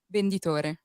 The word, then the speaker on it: venditore: Venditore.